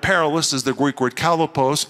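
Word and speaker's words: χαλεπός: And the word perilous is the Greek word kalopos. It's only used two times in the New Testament. You spell it C-H-A-L-E-P-O-S, kalopos.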